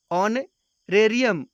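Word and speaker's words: honorarium: Next example है ऑनरेरियम, इसका भी उच्चारण वोवेल की तरह किया जा रहा है क्योंकि इसमें भी एच साइलेंट है, इसलिए ऑनरेरियम के पहले एन आर्टिकल का प्रयोग किया गया है।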